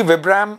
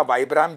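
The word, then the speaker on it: Vibram: Secondly विब्राम और या वाइब्राम, जैसे भी आप इसको प्रोनाउंस करते हैं, इसका soul is universally accepted as वन ऑफ the best souls in the market.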